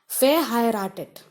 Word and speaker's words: verheiratet: Verheiratet. The first one is not pronounced because it is in VER, the prefix VER. But next one is pronounced.